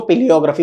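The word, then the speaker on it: palaeography: पेलियोग्राफी PALAEO है, ठीक है, PALAEO है, लेकिन इसको पेलियोग्राफी बोलते हैं, ठीक है।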